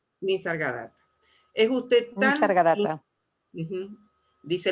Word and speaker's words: Nisargadatta: ¿Así se pronuncia? Nisargata. Nisargadatta.